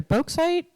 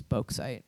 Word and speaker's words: bauxite: It's either bauxite. Yeah, it's spelt like faux, but with a B at the beginning. So I'm going to say it's bauxite.